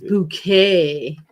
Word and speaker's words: Bucket: God, it's bouquet. It's okay. It's not bucket. It's bouquet.